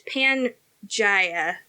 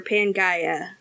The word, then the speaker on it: Pangea: No, it's Pangea with a G, or Pangea, like Earth. Gotcha.